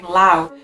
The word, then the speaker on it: Laos: Today we're exploring Laos. Oh, by the way, it looks like it's Laos, but it's Lao, you don't pronounce the S.